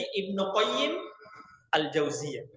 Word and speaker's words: Ibnu Qayyim al-Jauziyah: Nah, ikhwan, Ibnul Qayyim cara membacanya itu ketika tidak ada al-Jauziyah, antum baca dengan alif lam al-Qayyimnya, Ibnul Qayyim. Tapi ketika ada al-Jauziyahnya di belakang, maka antum tidak pakaikan al-nya di al-Qayyimnya. Maka menjadi Ibnu Qayyim al-Jauziyah. Nah, begitu cara membacanya.